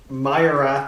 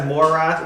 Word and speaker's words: Myrath: Rubizel, so Myrath is gonna go in. Hey, so pronounce that as Morath instead of Myra.